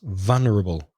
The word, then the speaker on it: vulnerable: vulnerable a different stress vulnerable so the stress is on the first syllable in English in what kind of